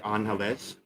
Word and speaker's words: Angeles: I always say Angeles. I was corrected long time ago when I called it Angeles City. My wife said that's incorrect. You're going to offend people. Okay, how do you say it? It's Angeles.